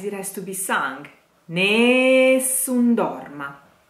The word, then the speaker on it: Nessun Dorma: has to be sank Nessun Dorma Nessun Dorma last a of the sentence has to be pronounced ah ah don't let the becomes